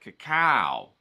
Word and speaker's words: cacao: You got to say it like that, cacao.